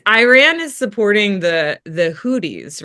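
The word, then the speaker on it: Houthi: The the the it's it's spelled H O U T H I, but I think it's pronounced Hoodi.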